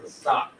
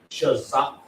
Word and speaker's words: Kazakh: I've heard people go around saying Shazak. What? Wow. But the word is what? Kazakh.